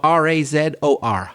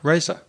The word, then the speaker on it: razor: or the thing no r-a-z-o-r raza and i say razor so yeah for me there's more of an r sound there yeah interesting and how